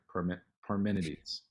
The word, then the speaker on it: Parmenides: That's what I say, but I mispronounce things all the time. No, yeah, that sounds right. Parmenides.